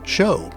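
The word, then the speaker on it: shew: The word S-H-E-W is pronounced show, and it means to reveal something.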